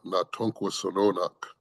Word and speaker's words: natunk: And uh and so that word that you see on the slide in our language, uh natunk is how you say that word.